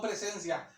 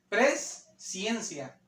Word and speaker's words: presciencia: Biblia la Reina Valera aparece como presencia si no presencia presciencia no presencia presencia quiere decir anticipado conocimiento ha la Biblia aparece esa palabra pres ciencia una de las cartas